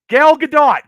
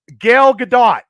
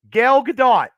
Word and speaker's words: Gal Gadot: a wait hold on I'll say it out loud and then if you hear it from the room Gail Gadot did I say it right now Gal Gadot did I say it